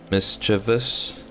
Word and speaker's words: mischievous: Most people are just mischievous, adding an extra mischievous.